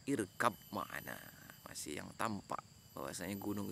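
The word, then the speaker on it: ارْكَبْ مَعَنَا: Jadi Nabi Nuh itu bacanya itu ya bunayya irkam ma'ana, menggunakan tajwid, bukan yang tampak lagi, irkam ma'ana, tapi dibaca oleh, yang didengar oleh Kan'an, irkab ma'ana, masih yang tampak bahwasanya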